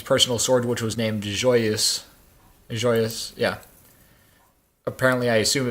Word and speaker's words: Joyeuse: was Emperor Charlemagne's personal sword, which was named Joyeuse. Joyous, yeah. Apparently, I assume it means joyous in French. Joyous. Joyeuse, yeah. Yeah, it's pronounced joyeux.